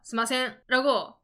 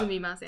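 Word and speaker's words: すみません: 일본 젊은 분들도 많은데 스미마센 말고 스마센라고 하는 친구도 있어요. 있어요. 그러면 샤딩이 화나죠. 맞아죠. 샤딩이 맞아죠. 죄송합니다 이런 느낌이란 말이에요. 천천히 발음하시면 좋을 그렇죠. 것 같아요. 그러니까 스미마센. 스미마생을 들었는데 스마생, 스마생 이러면은 그건 사과가 아니에요. 스미마생이라고 잘 들릴 정도로 좀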